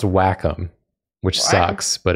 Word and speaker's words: Wacom: right is it pronounced Wacom or Wacom it's pronounced Wacom which sucks but it's true we said Wacom forever and then we got a sponsor deal